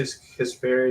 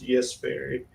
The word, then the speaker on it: Jesperi: I say Kasperi, it's Jesperi. Freaking names are so freaking hard to pronounce.